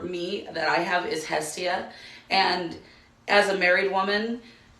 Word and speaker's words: Hestia: May you talk more about Hestian if it's spelled like that? It's actually Hestia. Drop the N and you got it.